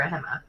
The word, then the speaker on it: Gemma: Or is it Gemma or Hema? Hema. Hema? Well, okay, I'm gonna correct it. I mean Gemma, technically. Sorry. Spelled Gemma, pronounced Hema.